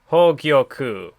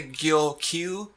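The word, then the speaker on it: Hōgyoku: It's pronounced Hogyoku. So I know you were having some trouble with that before. Hogyoku. Well, because it's like, I keep wanting to say Gyokyu, but it's Gyoku, I think, right?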